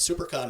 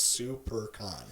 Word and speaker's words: SiouxperCon: Instagram and Twitter and super con is spelled s io u x p ER con like Sioux Falls South Dakota that's super con so please go of